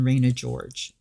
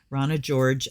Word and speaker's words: Rana George: And mine has been Raina George. I think it's Rana. I think she pronounces it Rana. Rana George, her Lenormand book.